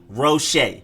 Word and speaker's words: Roche: quincy roche quincy rochet you emphasize the shade not the rose so it's quincy richey